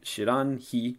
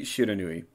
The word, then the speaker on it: Shiranui: It's supposed to mean unknown fire, but that would imply that the pronunciation here should be Shiranhi. Shiranhi. But it's clearly Shiranui.